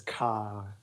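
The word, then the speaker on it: ข่า: No, actually, in Thai, that herb is known as ka. Ka, like K So, A? yeah, like KHA is the transliteration, I think.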